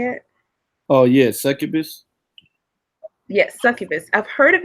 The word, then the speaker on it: succubus: Oh yeah, succubus.